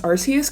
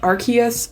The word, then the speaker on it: Arceus: And then last month, Legends Arceus came out. I know it's technically pronounced Arceus, but I refuse to say Arceus because it sounds way stupid, so I say Arceus.